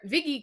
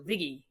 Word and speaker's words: Viggy: and it's funny because I actually don't go by Vicky in the normal pronunciation, but where Viggy comes from is Vicky with the New York accent, so Viggy, like a little more fast-paced, so like biscuits.